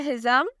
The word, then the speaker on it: Hizam: अगला नाम है हिज़म। बहुत खूबसूरत नाम है।